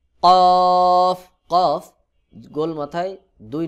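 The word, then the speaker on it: كاف: হা ফা আমজাহ কফ কফ কফ গোল মাথায় দুই নু এটার নাম কফ অনেকে কফ কাফ একই রকম উচ্চারণ করে কিন্তু দুইটার মধ্যে অনেক পার্থক্য রয়েছে কাফ স্বাভাবিকভাবে উচ্চারণ হয় আর কফ এটা শক্ত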